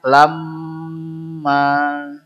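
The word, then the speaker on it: لمّا: mim tasdid lamma jadi ad kalak kayak gini Bacanya lamma jangan sebentar tapi lamma tib Wat takulunat turosa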